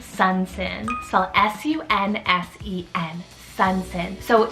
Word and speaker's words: Sunsen: life this is the name sun sin so s-u-n-s-e-n sunsen so it's derived basically from the name